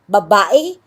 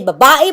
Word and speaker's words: babae: You can say babae, babae, it's okay. Right? So it doesn't really matter. Why? Because the E and I actually only had one symbol and you can pronounce it either way.